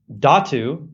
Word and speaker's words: dhatu: subtle ways and then datu which is spelled dhatu is a tissue it's